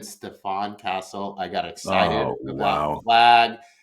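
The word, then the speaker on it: Stephon Castle: and you know what I said Stephen Castle it should should have been Stefan Castle I got excited about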